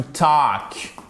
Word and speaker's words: talk: Vous avez aussi le verbe to talk. Attention, on ne prononce pas le L.